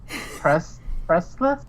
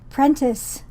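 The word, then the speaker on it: Prentiss: Pressless? Is that how you would pronounce it? I put it in the chat. Hold on, let me look here. Prentice. There's no L in that name.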